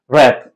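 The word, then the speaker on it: wrap: नहीं किया जाता डब डब् का भी पैटर्न है कि डब् के बाद जब आर आ जाए तो ये डब्लू जो होता है ये साइलेंट बन जाता है कि राइट राइट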